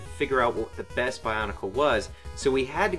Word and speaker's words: Bionicle: mean uh banaka Baka Bionicle Bion I've been saying it wrong this whole time you say Bionicle shut up I was going to say barnicles it's Bionicles um Bionicles are also making